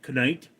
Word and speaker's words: knight: Did you know that back in the day they pronounced it kite? Yes, they pronounced it they pronounced the K. It was kite.